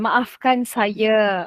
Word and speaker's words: maafkan saya: Maafkan saya. Ya, betul. Maafkan saya.